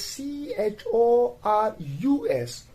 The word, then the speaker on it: chorus: we have that is c h o r u s chorus not chorus but chorus and the last example where